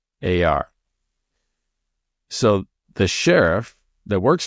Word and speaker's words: Bexar: And when they said it, I live in Bexar County, right? But it's spelled Bexar.